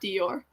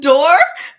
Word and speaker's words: Dior: cool that's cool Lily you thought it was pronounced door wait that's okay it it it's di or that's how that's how it's said so like a diarama but you shorten it to Dior yeah it's not Dior